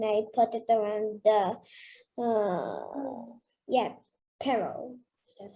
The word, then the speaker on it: parol: should, and then I put it around the Parol. Is that how you pronounce it? Parol.